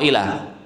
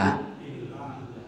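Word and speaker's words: إلا: Contoh, wal asri innal insana lafi khusrin illa atau ila? Yang mana yang benar? Illa atau ila? Illa. Tib yang pertama illa.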